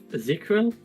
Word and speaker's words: Ezekiel: Ezekiel.